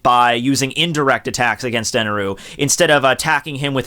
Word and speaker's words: Enel: I mean, it's said Eneroo in the Funimation thing, and that was just all screwed up, and it's pronounced Enel, but whatever.